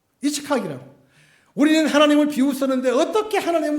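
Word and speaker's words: יצחק: 이삭의 본 발음은 이츠카이에요. 이츠카이라고.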